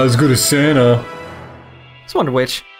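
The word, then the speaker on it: Wonder-Witch: go to Santa just wonder which rhymes with witch mhm okay another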